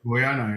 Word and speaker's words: Guyana: I don't know if I pronounce the name of that country right. Guyana, yeah.